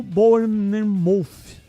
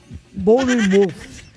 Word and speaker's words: Bournemouth: Vasco acertou a venda de Ryan para o Bournemouth. Sei lá se é essa a pronúncia correta. Repete aí. Bournemouth.